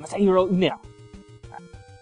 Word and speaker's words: Masahiro Ueno: Just say it fast. Yeah. Say it fast and say it like you're in a Godzilla movie. Yeah. Okay. So go ahead, try again. Masahiro Ueno.